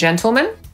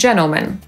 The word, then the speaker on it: gentlemen: Literę T możemy też pominąć w słowie dżentelmeni albo panowie, szczególnie w wyrażeniu panie i panowie. Niektórzy mówią ladies and gentlemen, a niektórzy ladies and gentlemen.